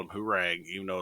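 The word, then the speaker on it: Hwoarang: pronounce I called him hurang even though it's like H wrong or something like that the kicks guy I called him herang because my country ass was like who rang the doorbell well he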